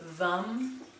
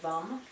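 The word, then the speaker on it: वं: the sound force is vum vum and it's pronounced it's spelled v-a-m but the a frequently in sanskrit is pronounced like a u so vum the element is water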